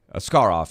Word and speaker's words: Askarov: you see the word when you see the letters askk yeah you your mind immediately goes to ask but yeah a scar off is how you say I mean but hopefully